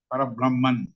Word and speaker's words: parabrahman: where one is with parab parabrahman that's the correct way of pronouncing parabrahman it is a state